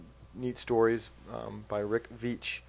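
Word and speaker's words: Veitch: stories um by Rick vich rhymes with Beach um the max Immortal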